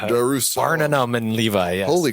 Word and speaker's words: Darussalam: Brunei Darussalam. You didn't even say it right. Darussalam.